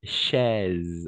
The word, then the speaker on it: chaise: La combinaison de voyelles A et I, toujours A et I, on va prononcer comme un E. D'accord? A et I, toujours comme un E. Donc, chaise. D'accord?